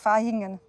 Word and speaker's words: Vaihingen: Ich habe also früher mal gedacht, es wird Vaihingen ausgesprochen, weil man ja zum Beispiel auch Vase sagt oder Vera sagt. Aber genau, bei der Stadt wird auf jeden Fall wie ein F ausgesprochen.